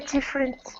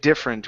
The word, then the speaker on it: different: time how you said different we don't say different okay this e is is silent we don't pronounce it okay so let's try